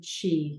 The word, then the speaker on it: Qi: and Harmony um and we refer to Chi which is spelled Q Qi um meaning energy in a